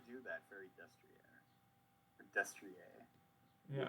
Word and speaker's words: Destrier: Or Destrier. Yeah. It's Destrier. And Echiqueur is French, so you probably. So it's probably pronounced Destrier.